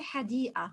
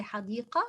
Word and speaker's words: حديقة: We do not pronounce the qaf as in fusha. We just say hadii'a. We don't say hadiqa, we say hadii'a.